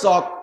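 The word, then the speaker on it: chalk: লেখে সি এইচ এল কে এল এ ল উচ্চারণে আমরা জানি আবার পড়তে যেয়ে কয় চক তাই চক কবিতায় সে এল গেল ক সি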